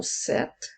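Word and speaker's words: sept: faire le son et dans le mot 7 la lettre P est une lettre muette mais puisque il y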